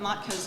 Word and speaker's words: Matka: Matka.